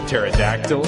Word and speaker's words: pterodactyl: O is for Ouija board P for pneumonia pterodactyl and psychosis Q is for cat Okay Q